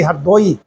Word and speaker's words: हरदोई: गांव के लोग अभी भी हरदोई अब तो हरदोई कहने लगे हैं ना हरदोई राह साइलेंट कर देते हैं छुपा देते हैं।